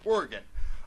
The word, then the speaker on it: Oregon: But just in other contexts, I pronounce it Oregon. I think that's because someone told me once that's how people from Oregon pronounce Oregon, but, maybe if you're